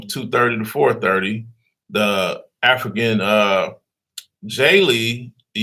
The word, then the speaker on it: Djeli: The African J Lee, the D is silent, DJELI, 801 Lee Street, Southwest, Atlanta, Georgia.